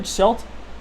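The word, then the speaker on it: Schuldt: Jimmy Schult. Is that how you say it? Schult. Yep.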